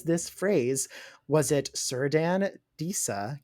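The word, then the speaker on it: Círdan: So I was confused for a long time about how to pronounce the C's, but it's always a K. I don't know why they don't just use K's. Celebrimbor and Cirdan.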